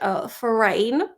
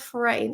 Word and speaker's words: foreign: case you didn't know because I used to pronounce it Forin and forigner logically right but one day he was like uh do you know what Chris it's like certain not foreign it is foreign it is foreign and you